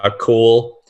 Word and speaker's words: Couell: Garrett Cool, kind of spelled like Simon. It's like spelled Couell if you're trying to type that out.